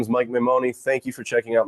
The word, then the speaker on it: Maimone: Mike Maimone. You say it. You say it. I say Maimone, all long vowels, but that's, anywhere in the neighborhood is fine.